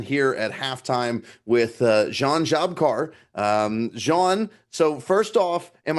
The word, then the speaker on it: Žabkar: us once again here at halftime with Jean Jabkar. Jean, so first off, am I saying your name correctly? Yeah, it's hard to pronounce in English, but it's pretty good. It's Jan Žabkar in Jean Slovenian.